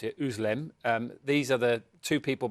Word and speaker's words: Özlem: Is Ugur Sahin and his wife, I believe you pronounce it, Özlem.